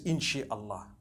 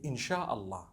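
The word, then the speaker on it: إن شاء الله: she means to create no one says inshi allah they say insha allah that's what it is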